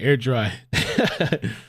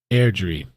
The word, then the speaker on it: Airdrie: guy Airdrie oh Andrew I've been saying air dry Andrew thanks so much for the Super Chat my name is pronounced Airdrie hopefully I remember I